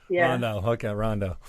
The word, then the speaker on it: Rondeau: think I got Olivia fine it's Olivia right Ronda yeah yeah so give us a brief mile